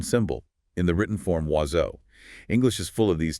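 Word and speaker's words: oiseau: As social notes, not one spoken sound is indicated by its own symbol in the written form wazo.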